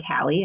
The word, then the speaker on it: Hallie: I pronounce my first name like Hallie. I like to say Hallie like Halle Berry.